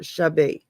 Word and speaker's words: Sha: Yeah, Is it's pronounced Misha or Shabe. oh, It's Sha. CH, but it's pronounced SH.